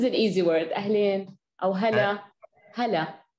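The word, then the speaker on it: هلا: Ahlin, or hala, hala. Hala.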